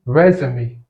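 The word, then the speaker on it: résumé: il veut dire reprendre tout comme il peut être prononcé resumé et dans ce cas il signifie CV donc vous voyez c'est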